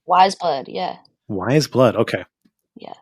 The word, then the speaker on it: Weyes Blood: don't know if that is that how you pronounce it way blood wise blood yeah wise blood okay